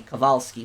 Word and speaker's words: Kowalski: It wouldn't be Kowalski, it'd be Kowalski, because W in Polish is V, but people would have